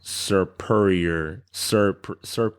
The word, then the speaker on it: Serperior: I think I'm pronouncing it Serperior. The grass snake. Oh, superior. That's like superior.